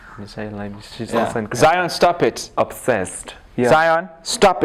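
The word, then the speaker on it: Michèle Lamy: Yeah, Michelle Lamy. Michelle Lamy.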